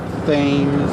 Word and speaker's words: Thames: Please, Well, you know, it's pronounced Thames.